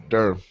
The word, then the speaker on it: Durham: North Carolina North Carolina Durham it's actually one syllable it's one syllable Durham d d you you